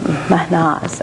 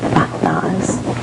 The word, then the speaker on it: Mahnaz: Mahnaz, actually, is how it's pronounced. Mahnaz.